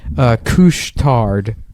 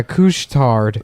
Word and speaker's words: Couche-Tard: They also have a place that's called Couche-Tard. That's the name of it. But couche is spelled like douche with a C. Oh hell yeah. Yeah. Douche tard. Yeah, Couche-Tard.